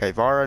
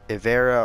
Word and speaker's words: Ivara: respond with it I I say ivara like ivara not Avera or rivera I say may Selleck